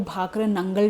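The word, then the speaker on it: भाखड़ा नांगल: ना guys, Google है ना, इसका प्रोनाउंसिएशन आपको भाखरा नंगल डैम बोलेगा, पर हम बहुत पुराने ज़माने से अगर इंडियन प्रोनाउंसिएशन की हम बात करें, ठीक है, तो हम उसे भाखरा नांगल डैम ही कहते हैं, ठीक है। इंग्लिश स्पेलिंग के लिए इंग्लिश प्रोनाउंसिएशन हम भाखरा नंगल डैम बोलने लग गए हैं।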